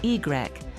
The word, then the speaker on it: Y: In 1959, Yquem introduced Y, pronounced Y, a dry white wine made from the same vineyards but vinified without botrytis.